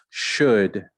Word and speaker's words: should: Should, the L is forgotten.